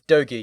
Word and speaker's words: Dogi: Is it pronounced Dogy or Doy? Like the character. It's It's Dogy. Yeah.